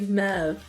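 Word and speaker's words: Möwe: The pronunciation is kind of like Mev.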